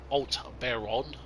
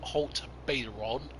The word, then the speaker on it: Haut-Beyleron: name i know it's alt behron i know it's not halt better on it's something like old uh baron or something like that